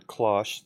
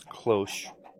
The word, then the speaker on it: cloche: l-c-c-o-l-c-h i think close i heard someone call it a klash clash i believe the correct pronunciation is cloche but basically it's this